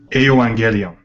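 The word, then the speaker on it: εὐαγγέλιον: Remember, the G is a GY. Does it make sense? Like when you order a gyro, you're ordering a hero. Right. Yeah, that's the way I pronounce it. I don't say gyro. Hero. It's almost like a GYH.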